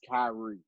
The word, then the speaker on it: Kyrie: so no I don't again I know it's Kyrie I know it's Carly I know it's Kyrie but really listening wasn't saying enough I can